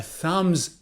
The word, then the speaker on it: thumb: give this video a thumbs up do it now give it a thumbs up so it's thumb not thumb or comb comb so